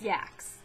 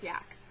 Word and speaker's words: Sjaak's: But I found there's this company called, I think it's pronounced Sjaks. It's spelled Sjaaks. And it's like Dutch or something, something like that. So I think it's pronounced Sjaks or something.